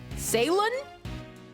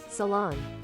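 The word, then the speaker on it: Ceylon: Salin.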